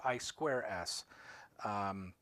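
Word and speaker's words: I²S: using what is called AI 2's or ice actually I think it's pronounced I square s it's a it's a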